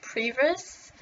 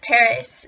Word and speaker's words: PVRIS: always call this band preus um funny thing it's actually called Paris it's spelled p v r i s um it's actually pronounced Paris they originally this band